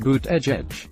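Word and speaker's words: Buttigieg: of not Redang academics surname is pronounced boot edge edge would be first combat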